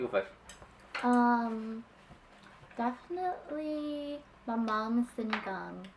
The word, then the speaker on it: sinigang: And it's so, And it's so, Wait, which one's the Sinigang? It's not sinigang, it's sinigang.